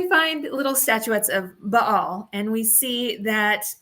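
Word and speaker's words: Baal: for Israel is finding Bale statuettes um or my professor would of course correct me and be like it's Bal um so I will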